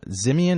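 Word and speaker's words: Ximian: has been hired by no his company uh zimon is that how you pronounce it yes and by the way correction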